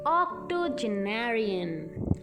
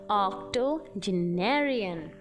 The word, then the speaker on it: octogenarian: One who is 80 years old, octogenarian, octogenarian. See the pronunciation, octogenarian, OCTOGENARIAN.